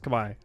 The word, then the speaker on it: Khmer: It's pronounced Khmer.